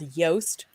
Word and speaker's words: Yoast: And so I use a plugin called Yoast, rhymes with toast, SEO, to build my sitemap.